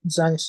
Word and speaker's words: Zanes: Zanz, hope I pronounced your name correctly. Go for it. Yeah, good evening. Yeah, Zanes is correct.